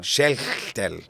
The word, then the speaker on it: Schechtel: Só que o nome dele é Schechtel. Igualzinho escreve, né? Só a pronúncia que é diferente, porque esse CH aí tem som de R no meio, né? Schechtel.